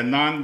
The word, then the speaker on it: naan: Oh, the naan bread? Yeah. Naan bread. Yeah, they call it naan bread. I think, I don't say no more bread, it's naan. Okay.